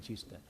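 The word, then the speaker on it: Kista: Ericsson instala su headquarters en Chista, ellos en sueco lo pronuncian Chista.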